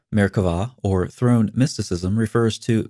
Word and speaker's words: Merkavah: of Jewish mysticism called Merkavah mysticism. Frequently spelled with a B but pronounced with a V, Merkavah, or throne mysticism, refers